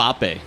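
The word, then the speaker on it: Mbappé: How's his last name pronounced? Mbappe.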